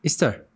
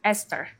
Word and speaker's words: Easter: Some people read it as Esther. Meeting on looking mesle. Esther or Easter? Okay, EA ስለሆነ I think ሁለት አይነት pronunciation አለው ብዙ ሰው የሚለው Esther የሚለው አለ Easter የሚለው ማለት I think Easter ነው ያልከኝ Easter yeah which is correct okay yeah.